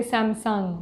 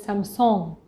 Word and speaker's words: Samsung: brand names like samsung obviously we say samsung but it is some song we don't want to